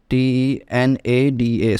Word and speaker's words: de nada: called de nada, and to pronounce it correctly you can also just split these de nada into 3 parts, that is DENADA, so it becomes de nada.